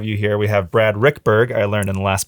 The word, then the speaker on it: Ruekberg: We have Brad Ruekberg. I learned in the last podcast that's how you pronounce his last name.